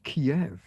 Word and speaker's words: Kiev: us that no no it's not Kev, it's Kiev.